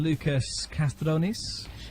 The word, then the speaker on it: Loukas Kastrounis: Now, my sofa guest this evening has been Loukas Kastrounis. I'm so glad I got the pronunciation.